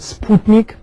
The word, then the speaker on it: Sputnik: So the Soviet Union, as we know, was the first to launch Sputnik, or as the Russians would pronounce it, Sputnik.